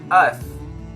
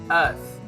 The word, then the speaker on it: earth: to pronounce this word earth earth now keep in mind that if you want to pronounce this word you have to stick your tongue a little bit out it's going to be